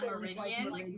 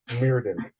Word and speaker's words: Meriden: Well, I asked if it was like Meridian because I was very interested, since I'm so interested in the ley lines. Right? I was like, is that how you pronounce it, like Meridian? That's what I was asking. Is that what you're sticking with? Yeah. Oh no. How many times I've heard this? It's actually Meriden.